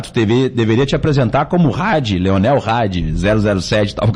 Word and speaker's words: Radde: E até queria convidar que se todo mundo pudesse aí seguir as nossas redes sociais, Leonel Hadi, o Hadi se escreve R-A-D-D-E, coloca lá, a gente